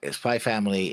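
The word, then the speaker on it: SPY×FAMILY: it says spy by spy family is read as spy's cross family where the ex is not pronounced but acts as a visual emphasis essentially meaning spy family I guess you're right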